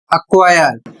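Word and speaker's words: acquire: दूसरा नियम लिखा हुआ है के या q से पहले यदि सी आता है तो सी साइलेंट हो जाता है।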